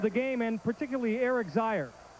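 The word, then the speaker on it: Zeier: Your impressions of the game and particularly Eric Zire. It rhymes with fire.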